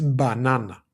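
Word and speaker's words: μπανάνα: So this is banana. Banana. Now if I move the accent here and I put it instead here, that would be pronounced banana. Banana. So it just has to do with where you put emphasis in the word.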